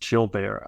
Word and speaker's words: Gilbert: morbility and you mentioned children bear syndrome I pronounce it chill bear syndrome uh which is a